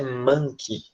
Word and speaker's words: monkey: aprendendo inglês a gente sempre tem problemas nessa pronúncia né que a gente aprende monkey né monkey vai ficar pronta é manti tá é como se fosse uma esse é